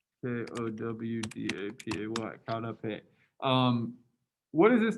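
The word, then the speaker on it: qaug dab peg: The way you pronounce this word is kaudape, if you're interested in that.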